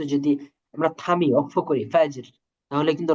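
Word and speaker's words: فجر: তো এটার উচ্চারণ কেমন হবে? আহ, খুস, এই যে এটা কি ফাজের হবে নাকি ফাজর হবে?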